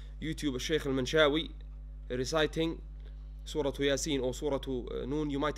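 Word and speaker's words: يس: However, when I pronounce it, what do I say? Yasin.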